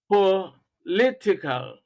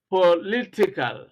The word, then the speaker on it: political: the second syllable then words ending in iCal you have political political stress on the second syllable methodical methodical stress